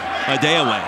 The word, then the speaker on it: Adewale: And for the record, he just informed everyone here in Logan yesterday his last name is pronounced Adewale.